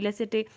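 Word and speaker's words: laïcité: French का जो secularism है उसको क्या बोला जाता है, LAICIT, लेसेटे, मतलब कुछ और लेसे आप बोल सकते हो ना, वहाँ पे हाफ ही प्रोनाउंस होते हैं वर्ड फ्रेंच में।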